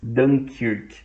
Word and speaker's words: Dunkerque: Eles invadiram por Dunkerque, ou a pronúncia em inglês, Dunkirk.